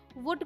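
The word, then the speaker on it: would: ओ यू एल डी तो जब हमने ये सीख लिया कि ओ यू एल डी है वहां पर एल को हमें नहीं बोलना है ठीक है लिखना है पर बोलना नहीं है तो उसी तरीके से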